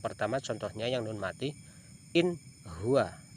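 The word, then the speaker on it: إِنْ هُوَ: Ha yang pertama contohnya yang nun mati, in huwa, bacanya jelas, tidak boleh ing huwa, jelas in huwa. Apabila ada nun mati bertemu dengan ha maka dibaca jelas.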